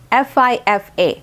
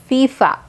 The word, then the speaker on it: FIFA: these are basically words fifa makes a fu sound at the beginning like any word for right it's the same thing fifa so we do not